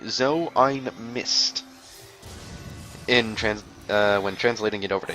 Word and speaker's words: so ein Mist: That is actually a German saying, but in order to pronounce it correctly, you have to say "so ein Mist."